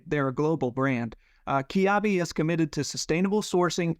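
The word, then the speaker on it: Kiabi: podcast cotton companion uh the French fashion brand kabi and I'm going to give a big shout out to Jim stman for giving me a pronunciation guide on this kabi is the newest member at the US cotton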